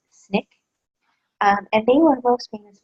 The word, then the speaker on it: SNCC: One is the Student Nonviolent Coordinating Committee, which we abbreviate as SNCC and pronounce SNCC.